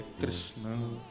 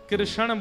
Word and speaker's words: कृष्ण: ठाकुर जी का नाम लोग अधिकतर कृष्ण शब्द का उच्चारण गलत करते हैं। कई लोग कृष्ण कहते हैं। कई लोग कृष्णा बोलते हैं। कई लोग कृष्ण बोलते हैं। बहुत उच्चारण उसका शुद्ध नहीं कर पाते। शुद्ध उच्चारण कृष्ण जय बोलो वृंदावन बिहारी लाल